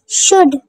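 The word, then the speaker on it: should: हाफ हाल्फ नहीं हाफ शुड शुड पढ़ेंगे शुल्ड नहीं पढ़ेंगे शुड शुड मीन चाहिए एल साइलेंट होगा जैसे कि मैंने पीछे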